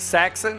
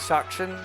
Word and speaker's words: Saxon: of this company is it saxon that's how you pronounce it saxon not shocking saxon saxon saxon i've been